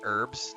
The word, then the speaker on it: herbs: herbs see I say herbs Dennis like I literally don't pronounce the h i just say herbs and that lady in